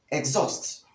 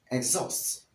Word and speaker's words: exhaust: as excuse or excuse this word is wrongly mispronounced as exhaust exhausts but the correct pronunciation of the word is